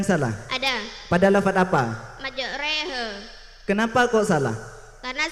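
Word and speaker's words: مجريها: Karena salah dibaca majroha, yang benar dibaca majreha karena menunjukkan imalah. Apa itu imalah? Imalah ialah membaca di antara harakat fathah dan kasroh. Jadi bacanya itu majreha, bukan majroha.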